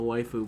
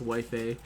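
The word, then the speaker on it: Waifei: But since arriving at the Wife I keep also want to pronounce this as the waifu, but it is not waifu. It's wifi peninsula recently, I've been haunted by memories of those past nightmares.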